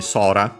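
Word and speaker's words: 空: to those uh yeah sora uh actually sora accent on the first moa uh funny enough also rhymes.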